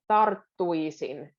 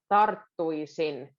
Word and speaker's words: tarttuisin: this that often, but a bridge between R and a double T. Tarttuisin. There's a little breath in the middle. Tarttuisin. I didn't mean like tarttuisin. That's not what I meant, but there's a little emphasis.